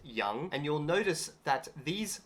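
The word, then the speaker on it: 羊: And then in the middle, they've got one specific character, which means sheep, or it's pronounced young.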